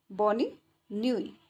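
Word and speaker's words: bonne nuit: Good नाइट को बोला जाता है बॉनी न्यूई। नुई। ठीक है, नुई। ने पे उ की मात्रा ये नुई। बॉन बॉनी न्यूई। नुई। इसमें ये टी है, इसमें साइलेंट हो गया है।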